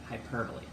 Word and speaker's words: hyperbole: is hyperbole it's spelled like hyperbole but it's pronounced hyperbole hyperbole is an exaggeration an exaggeration for emphasis nobody's